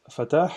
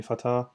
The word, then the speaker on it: Fatah: here my name is fatah if you can say the h the arabic way if you cannot call me fatah or any other western way i won't be mad